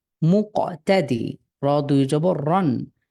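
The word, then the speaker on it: مقتدر: হুম মুক্তাদি র মুকতাদির, আপনার হরকতের উচ্চারণ টান ছাড়া দ্রুত পড়তে হয়।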